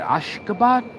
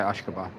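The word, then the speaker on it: Ashgabat: Ashkabad. Yes, I said it right. Okay. Ashkabad.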